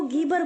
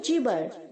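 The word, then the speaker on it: gibber: बहुत सारे बच्चे यहाँ पे गलत प्रोनाउंस करते हैं, जीबर को गीबर बोलते हैं। गलत प्रोनाउंस है बच्चों, गीबर नहीं, जीबर। जी जो है वो ज की तरह साउंड करेगा।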